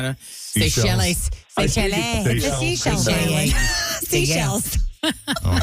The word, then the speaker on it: Seychelles: How is it pronounced? I always saw the word, but I never knew how to... Seychelles.